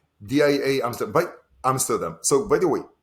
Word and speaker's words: DIA: we liked so there's many many people um here in europe who call us dia but yeah the right the right way to pronounce it is dia so what is it